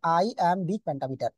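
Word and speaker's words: iambic pentameter: বলা হয় আইএমবি প্যান্টামিটার উচ্চারণটা করবেন এভাবে আই এমবি প্যান্টামিটার আইম বিগ পেন্টামিটার আইম বিগ পেন্টামিটার ঠিক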